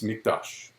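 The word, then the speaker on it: מקדש: the word there it's mikdash and uh if you you know i said with a q but it's actually with a k the way you pronounce it and notice that word mikdash okay well when the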